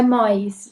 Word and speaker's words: Moyes: Como Eu Era Antes de Você, sempre entre aspas, de Jojo Mais, né? É assim que se pronuncia? É Mois, Jojo Mois.